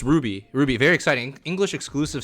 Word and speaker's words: RWBY: yeah but yeah it's ruby very exciting that's how you pronounce it ruby i do believe not ruby ruby um